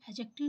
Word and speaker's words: adjective: तो जब भी कभी भी जे से पहले डी या डी के बाद जे आता है तो हम डी को क्या करते हैं, डी हमारा साइलेंट हो जाता है, इसलिए एडजेक्टिव इसको प्रोनाउंशिएट करते हैं।